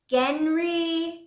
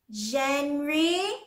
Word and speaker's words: genre: Like Genri? Genre. It's pronounced genre. Genre is a French word that means style.